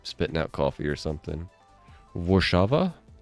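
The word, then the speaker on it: Warszawa: Guess that sort of makes sense, because like a lot of countries don't pronounce W's the way that Americans pronounce them. Like usually a W is more of just like an extended V, I believe.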